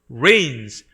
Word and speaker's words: reign: The Lord reigns. be reign하고 똑같은 말인데요. reign, G가 묵음입니다.